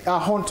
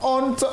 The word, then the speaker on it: honte: C'est comme quand on prend le mot honte. Honte. Souvent les gens disent à honte, honte. Le has il ne se prononce pas. On dit tout simplement honte.